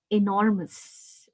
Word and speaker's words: enormous: You can see that, there is a line here, okay, which shows that it is a stress mark. Okay, so I is stressed.